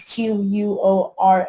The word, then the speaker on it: Quora: I don't know how you pronounce that. Quora. It's Quora.